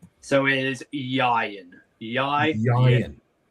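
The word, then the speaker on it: Ieuan: So it is Yan. And the best way I can probably teach people to pronounce it is think Orion, but replace the R with a Y.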